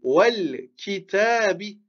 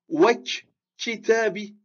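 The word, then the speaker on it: والكتاب: On dit wal-kitabi. On ne va pas dire wak-kitabi de cette manière-là, avec une shadda ici. Non. On ne va pas prononcer comme ça.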